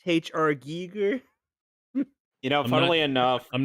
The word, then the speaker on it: Giger: for that film so the failure actually it's pronounced HR Giger you know fun enough I'm not critic bait